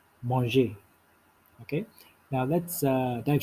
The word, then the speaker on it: manger: about the verb eats which is monge in french that's pronounced as monge okay now let's uh